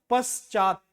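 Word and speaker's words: पश्चात्: यहां पर भी देखो पश्चात आप क्या बोल रहे हो पश्चात तो यहां पर सबसे ज्यादा जोर लग रहा है च क्योंकि च में आ की मात्रा लगी है और त का उच्चारण पूरा ना होने के कारण यहां पर हलंत लगा है।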